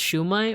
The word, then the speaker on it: shumai: In Philippines, I think it's also called siomai, but it's pronounced shumai, or it's spelled shumai. It's spelled shumai.